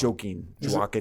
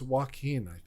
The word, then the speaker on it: Joaquin: I guess Joaquin Phoenix I always say his name is joking walking it's Joaquin Joaquin and then I figure